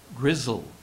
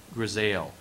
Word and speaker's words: grisaille: Grizzle, also a second pronunciation, grisaille, a decoration in tones of a single color and especially gray, designed to produce a three-dimensional effect.